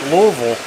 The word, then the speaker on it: Louisville: Bulleit's closest to Louisville.